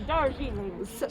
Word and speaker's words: Darjeeling: And Captain Sapphire Darjeeling. would that be brother or sister? Sister. Sister Captain. Oh, sir, I forgot. Sister Captain Sir. Sapphire Darjeeling. Sister Captain Sir Sapphire. Darjeeling, like the tea.